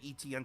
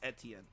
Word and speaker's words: Etienne: since it's Clemson days apparently it's Etienne right or wait is it etn now oh yes literally the three letters e t n so it's I was saying it right then ah so someone